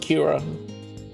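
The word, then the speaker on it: キラー: I where Japanese killer would be pronounced Kira to talk about a Kira business strategy.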